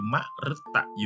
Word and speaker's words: มฤตยู: กด ก็ ออก สะกด คำ อ่าน คือ รอ อุดร ฤต เวลา อ่าน แล้ว คือ มฤตยู มฤตยู อา กะ สะ การ